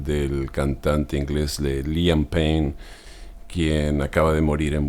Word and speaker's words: Payne: cayó o se suicidó aclaro que el nombre de liam pain se pronuncia más que nada liam Pain escuché algunas personas diciendo